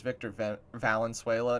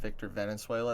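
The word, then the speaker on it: Victor Valenzuela: So, his name is Victor Valenuela, not Victor Venezuela.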